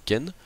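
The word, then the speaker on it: 犬: C'est que même si la prononciation du kanji diffère, qui peut être prononcé soit inu, soit ken, il garde un certain sens commun.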